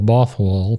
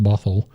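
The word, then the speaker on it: Bothwell: And uh she quickly married the Earl of Bothal, probably pronounced Bothl.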